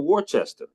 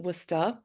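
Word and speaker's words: Worcester: to the University of Worchester if I'm not mistaken um of yeah wer so we pronounced it wora um okay yeah so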